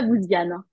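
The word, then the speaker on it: Bouziane: d'inviter sur la chaîne bousiane c'est comme ça qu'on prononce bouian oui c'est ça c'est bouian ouais ouais oui super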